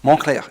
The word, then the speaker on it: Moncler: determine if they're worth your money or not Montclair is pronounced that way because it's derived from the